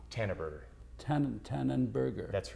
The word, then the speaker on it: Tanneberger: hairdresser and you sp your last name is pronounced how Tanner Burger tan tanan Burger that's right and your first